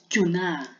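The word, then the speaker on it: 전화: Ang basa ko niyan is chuna. Chuna. Pag pambilisan na is chuna. Diba? Bilisin mo lang to. Pag pabilisin mo lang yung bigkas na to, chuna. Ganun. Okay? Parang nawawala yung X, tapos itong N, dinadala sa taas.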